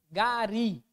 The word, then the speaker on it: gari: Gari é a mesma regra? Não. Porque gari, qual que é a posição da sílaba tônica? A última.